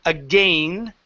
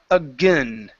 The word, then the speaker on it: again: um this word here instead of again with a long a the word is again again aa again huh